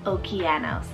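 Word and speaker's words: Okeanos: spell o k e a n o s okianos and this one is the greek word for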